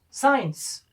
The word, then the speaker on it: science: The letter C is silent. It's because the letter C follows the letter S. Next one can be science.